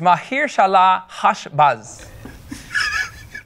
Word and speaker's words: Maher-shalal-hash-baz: Yeah, the name of the child is Mahir Shalah Hashbaz.